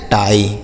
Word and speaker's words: tie: पाई, TIE से पढ़ेंगे टाई। क्या पढ़ेंगे? टाई। तो आई के साथ ई रहेगा तब भी हम बड़ी की मात्रा नहीं करेंगे। लास्ट में रहेगा तो आई का उच्चारण, जैसे डाई, लाई, पाई, टाई।